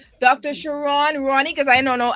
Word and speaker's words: Sharron: have in studio today Dr shiron or Sharon how do you pronounce it I got it right the first time Dr shiron Ronnie because I don't